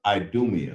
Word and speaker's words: Idumea: And it says right here, pronounce it one more time for me, sir. Idumea.